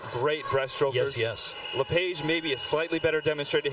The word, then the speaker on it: Lepage: It is pronounced Lepage.